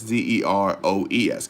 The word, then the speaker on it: Zeroes: All you have to do, but it's spelled Zeroes, not OS. Zeroes. So think heroes, but zeros.